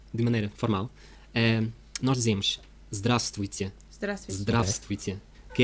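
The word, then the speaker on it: здравствуйте: Não, zdravstvuyte. Sim. Então, no princípio da palavra aparecem três consoantes juntos, sim? Zdravstvuyte. E depois no meio mais quatro.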